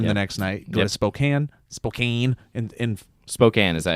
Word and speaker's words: Spokane: Salt Lake, perform the next night, go to Spokane, in Spokane, is that how you say it? Spokane, yep, and not Gonzaga.